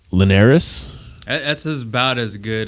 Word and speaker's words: Linares: it's last name's wrong linares that's as about as good as you're gonna get yeah that's it linares okay you gotta have that little twang no but lanais is what i was